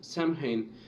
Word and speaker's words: Samhain: This tradition was called Samhain, Samhain, Samhain, just like that. That's how it is spelled.